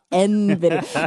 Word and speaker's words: Nvidia: Carara, somebody needs to tell Cara that it's pronounced Nvidia. It's the most important tech company on the planet and it's pronounced Nvidia.